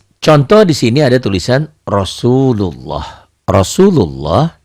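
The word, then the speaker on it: رسول الله: Surya jadi Mad Thobi'i jadi panjang Rosulullah Jangan dibaca rasullullah ya Ah ini karena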